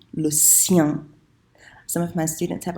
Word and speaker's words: le sien: on Skype, I said, it rhymes with rien. So you know how to say rien, just make sure you make it rhyme with that, okay?